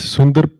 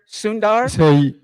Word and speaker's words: Sundar: good do you mind telling us how you pronounce the CEO of Google's name just correctly go ahead I think uh it's Sundar Sunder Sundar we want for good for good sources we